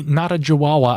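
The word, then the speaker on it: Natawidjaja: And there's a geologist there, Danny Natajawawa, I believe is how he pronounces his name.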